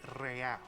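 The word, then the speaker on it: réal: you owe me 130 real he pronounces the r with a mock aristocratic accent the irr or inter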